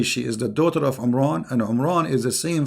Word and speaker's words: Imran: of Moses and Aaron because his name is Imran so the last letter is M not in so the foolish Mohammed he thought that Mary she is the daughter of imran and imran is the